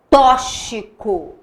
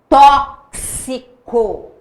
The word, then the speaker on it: tóxico: Não é tóxico, é tóxico. Tá vendo que você fala o K, o som do K e o som do S. Então, tóxico, sexo.